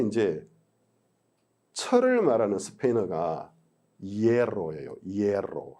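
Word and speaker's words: hierro: 이에로. 한국에는 R을 2번 반복하는 발음이 없어요.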